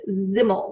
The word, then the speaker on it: Simmel: Another theorist about whom I'd like to speak in this lecture is George Simmel, and that is pronounced Zimmel with a Z sound, Z-I-M-M-E-L, and the accents on the first syllables.